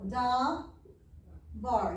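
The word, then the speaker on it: דָּבָר: because it's one word so da bar you have a vowel here you have a vowel here so two syllables da bar um this one has one syllable because it only has one vowel if it had another one then it would be bahrain now when you have two syllables which one is emphasized normally not all the time but the second one so kind of practice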